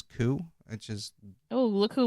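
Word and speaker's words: Køge: Now, when I say Koo Bay, it's actually spelled Koge, but they pronounce it as Koo, which is...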